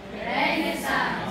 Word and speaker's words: Renaissance: Ang tamang pronunciation po ay Renaissance. Renaissance. Okay, so say that. Renaissance.